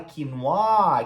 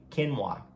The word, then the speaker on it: quinoa: Só que não, a pronúncia dela é quinoa, quinoa. Quinoa, porque é uma palavra indígena. Então eles pronunciam em inglês o mais parecido de como os indígenas falariam.